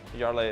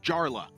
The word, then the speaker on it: Jarla: not only is he Swedish, where J's are pronounced as Y's, but he also he said Jarla.